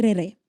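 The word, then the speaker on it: raerae: on les appelait soit les Mahou, soit les Réré. OK. Euh si tu veux écrire, ça s'écrit R A E R A E et Mahou M a h U.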